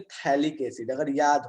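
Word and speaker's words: phthalic: पी यहाँ पे silent रहता है, हाँ बिल्कुल प्रत्युष, पी यहाँ पे साइलेंट रहता है, ठीक है। So this is known as थैलिक acid. सबसे पहले करते क्या है कि थैलिक एसिड को क्या करते हैं, रिएक्ट कराते हैं।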